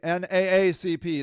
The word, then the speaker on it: NAACP: before his appearent suicide he attended an NAA NAACP that's how you say it image Award with